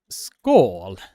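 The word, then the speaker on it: skål: call it in Sweden School um how you are pronouncing that word is school school and if you are practicing on how to pronounce it like that you will basically say cheers but and this is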